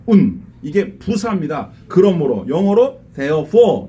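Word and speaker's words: οὖν: 이 말을 헬라어로 운이라고 읽어요. 운.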